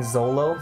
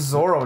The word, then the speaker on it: Zoro: Fucking Zolo? Zolo? Not even the guy's fucking name? They don't say the guy's name right? No, they said it wrong. His name's Zoro, not Zolo.